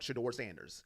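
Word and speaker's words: Shedeur Sanders: for one man, and it rhymes with Medor Manders, okay? If you don't know who I'm talking about, Sheduer Sanders.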